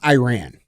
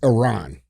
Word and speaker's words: Iran: let's correct this mhm it's not Iran it's Iran you talk to any